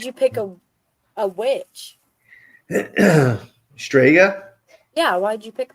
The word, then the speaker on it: Strega: side note but I just want to say stga is Italian for witch a lot of people